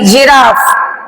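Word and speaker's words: giraffe: sorry ई आई वाई इन तीन में से कोई भी लेटर जी के बाद अगर आता है तो सिंपली हम वहां पे जी को जा बोलेंगे जैसे जी ई एन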